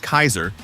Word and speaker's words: Caesar: Inspired by ancient Rome and led by Caesar, pronounced Kaiser in Fallout cannon, the Legion is notorious for its anti-technology stance, slavery, and ruthless military rule.